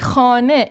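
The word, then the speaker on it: خانه: Ya da daha birçok kullanan örnek hane ev demek. Şurada hane nunun noktasını unutmuyoruz. Şimdi bu ev demek. Biz burada hane demiyoruz. Hane H'yi yazıyoruz ama e sesi okunuyor.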